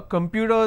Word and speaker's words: computer: start now observe here computer the word starts with C but it's not a sir sound it will start with that cur